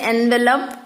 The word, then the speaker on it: envelope: In his hand was a large envelope. We say envelope, but the other pronunciation is envelope for this word.